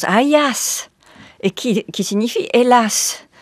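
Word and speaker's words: Αἴας: littérat en notant que Ajax porte en grec un nom qui se prononce Ayas et qui qui signifie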